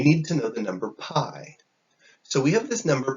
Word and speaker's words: pi: is p i for pi but i put the note it's pronounced pi like like pie that you eat or anything like that